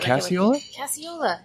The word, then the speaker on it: Casciola: you to introduce her just so I wouldn't butcher the last name and okay what is it casual definitely I can I say like using it